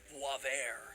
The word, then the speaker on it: Boisvert: underscore boaz vert or as i believe it's actually pronounced voivair when i see the